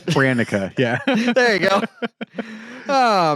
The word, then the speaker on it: Hranica: Hranica. Mike, say it. Ranica. Hranica.